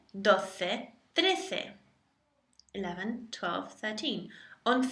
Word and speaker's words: doce: It's spelt doce, D-O-C-E. So you have once as once. Doce, take the D from dos, meaning number 2. Dos becoming doce.